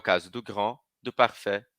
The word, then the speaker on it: grand: feminino na língua falada Grand não pronuncio Granda pronuncio só consoante parfet Não pronuncio parfet